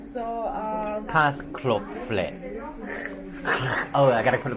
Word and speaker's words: Käsespätzle: pronouncing. So, Käsespätzle.